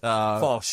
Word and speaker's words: Foch: It So just- we will go with the more relaxed Fosh, anglicised version of Fosh.